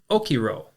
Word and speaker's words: okiro: And arise is okiro. Okiro is spelled o k i r o.